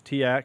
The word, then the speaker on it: TEAC: He has his TEAC, or Teak, however you want to pronounce it, reel-to-reel tape player, as well as a Sony Super CD player, because that was a thing.